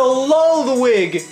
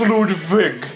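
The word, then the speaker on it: Ludwig: coupon it is a lull wig look get out get your face out of there it is a freaking lull wig L it's actually pronounced ludig it's a l viig l it's a lvg oh my God I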